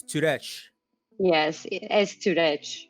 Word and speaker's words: Sturec: it but it's like you can just say it directly it's it's weird i know oh so so so the s is silent and it's turret yes it is it's